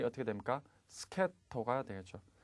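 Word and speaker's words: 助っ人: 스케토가 되겠죠. 특수하게 발음을 하니까 반드시 주의를 하시기 바라겠습니다. 정답은 D가 되겠죠. 코코로지의 스케토니 타스케라레 나가라.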